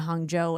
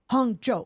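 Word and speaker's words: Hangzhou: favorite story is actually my husband was coming to visit me and Hong Joe and mispronounced it and the woman at the airline counter looked at him and she said Hong Joe Hong Joo like she wanted to make sure he pronounced it correctly and he was like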